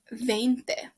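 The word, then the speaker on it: veinte: It's pronounced 20, like a vein in your hand, in your arm, in your body.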